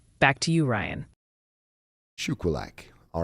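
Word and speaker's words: Shuqualak: south of mon Shila the town south of Mackin Mississippi is pronounced shilak back to you Ryan shulak all right thank you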